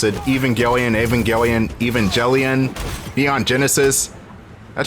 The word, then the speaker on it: Evangelion: Mecca like aelian or even gelan however you pronounce it Evangelion Evangelion Evangelion Neon Genesis that show is weird